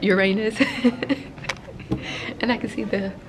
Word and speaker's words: Uranus: and one student just asked, is that planet pronounced Uranus? And I can see the vice principal have a little grin on his face. And I'm just like, nope, Uranus.